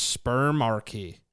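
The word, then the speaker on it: spermarche: it's spelled it's pronounced sperm Archy yeah it's like a monarchy yeah like a monarchy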